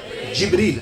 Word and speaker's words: جبریل: جبریل.